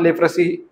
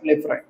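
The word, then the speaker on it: leprae: बॅक्टरिया affect करणार मायकोबॅक्टरियम लेफरा okay लेफ्री मायकोबॅक्टम लेफ्री लेफ्री सुद्धा बोलू शकतात लेफ्रा सुद्धा बोलू शकतात हे प्रोनन्सशनवर डिपेंडिंग आहे.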